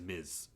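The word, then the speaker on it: Ms.: Miz and I'm awesome that's the word is Miz okay okay now that we know how to pronounce these superheroes names I mean the show called her Miss Marvel and they were wrong about that but Googled it or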